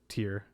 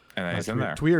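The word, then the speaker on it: Týr: going to show up or tear however you want to pronounce it yeah tweer is the traditional and now he's in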